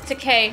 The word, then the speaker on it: Takei: Yeah, it's Takei, first of all, and yes.